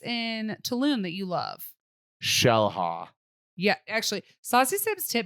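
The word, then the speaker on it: Xel-Há: Shellha.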